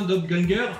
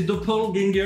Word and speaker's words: Doppelganger: Alors, c'est un mot allemand à la base. Hein. Donc, soit vous le prononcez à l'allemande, hein, Doppelganger, ou alors soit c'est Doppelganger en anglais.